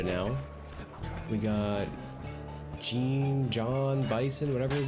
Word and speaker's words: Bison: We got Gene, John, Bison, whatever his name is. But it's like pronounced like French, like Bison.